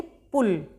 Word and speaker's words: पुल: पुल यह है बड़े ऊ की मात्रा। बड़े ऊ की मात्रा छोटे ऊ की मात्रा के उच्चारण में कम समय लगेगा और बड़े ऊ की मात्रा थोड़ा खींच के बोलेंगे।